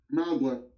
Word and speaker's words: Mauga: Mauga. Okay. That's how you pronounce it.